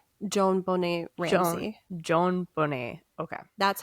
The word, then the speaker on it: JonBenét: JonBenét Ramsey.